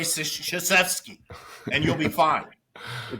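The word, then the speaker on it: Krzyzewski: Army and was like I'm coach say shashki just say shashki don't worry about what it looks like just say shashki and you'll be fine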